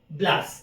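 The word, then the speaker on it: Blache: ब्लास ठीक है ना हिंदी में इसको ब्लाचे लिखा हुआ है लेकिन एक्सजेक्टली आपको अगर देखना है तो इनका नाम की स्पेलिंग क्या है विडाल डी ब्लास ठीक है ना इसको पढ़ते है अपन प्रोनाउंस करते है ब्लास एक अमेरिकन थिंकर है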